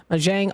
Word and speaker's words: Mahjong: So let me look at the pronunciation. Mahjong?